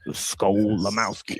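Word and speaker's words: Skolimowski: And it basically sounds exactly as it's spelled. S Ko, right? Um um u skull. Um then Lamski. L I M O W S K I. Right. So like skull Lamski, right?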